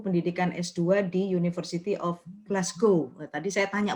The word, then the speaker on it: Glasgow: Mas Bobi ini sekarang sedang menempuh pendidikan S2 di University of Glasgow. Tadi saya tanya bacanya gimana sih? Katanya orang sana tuh kedengerannya sepertinya ngomongnya Glasgow gitu ya.